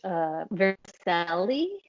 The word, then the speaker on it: vermicelli: So it was pretty much vermicelli.